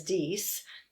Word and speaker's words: dix: is french for ten the french pronunciation is dies but these notes were